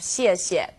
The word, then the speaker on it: 谢谢: Now, I know some people have a hard time with the pronunciation of 谢谢. You can think of it kind of like the word she and 谢.